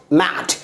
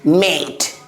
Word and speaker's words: mate: Mat. But once we can say that, once we add E, it becomes what? Mate, not mat.